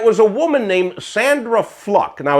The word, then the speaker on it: Fluke: a woman named Sandra fluck now it's it's spelled fluke but it's pronounced fluck she came out to